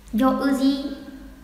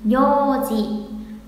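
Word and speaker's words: ようじ: Vì sau ô là ư là trường âm rồi. Vậy chỉ cần đọc là gì nhỉ? Yoji.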